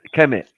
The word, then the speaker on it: Kemet: But if you take the E's out, if you take that, right. It's just the KM and the T. It's just the KM and the T. Yeah, that's how we pronounce it.